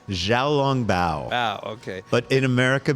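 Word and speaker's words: xiaolongbao: And so the place is kind of known for their, and I'm probably going to mispronounce this, the Zhao Longbao. Zhao Longbao.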